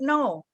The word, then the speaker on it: know: no, I don't know. The K not pronounced.